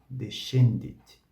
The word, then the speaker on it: descendit: sibilante Cras Cras Cras estas duas sílabas tem o som de che che che e depois de shei shi shi assim esses exemplos são descendit descendit descendit e depois